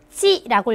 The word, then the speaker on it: 系: 乘客们 승객 여러분 系好安全带 자, 이거 시라고 읽으시면 안 되고 이때는 지라고 읽어주셔야 돼요.